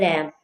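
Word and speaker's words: lamb: एम के बाद बी आ रहा है। तो बी जो है हमने बी की साउंड नहीं पढ़नी। इसको प्रोनाउंस नहीं करना। इसको पढ़ेंगे लैंप। बी जो है यह साइलेंट है।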